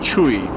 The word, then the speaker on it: Chui: So I'll try my best to pronounce it, because it's very hard to pronounce in English, because this is not exactly an English word, right? It's a Chinese surname. So my full name is Sam Chui.